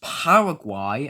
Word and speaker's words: Paraguay: The countries are pronounced Paraguay and Uruguay.